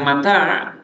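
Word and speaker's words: متاع: Huruf mim pada bibir, ma. Huruf ta pada lidah, ta. Huruf ain pada tenggorokan, a.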